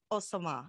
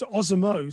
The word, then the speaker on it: OSamoh: butcher his name too badly, but it's Simon Osama. Is that right? That is very close. OSamoh.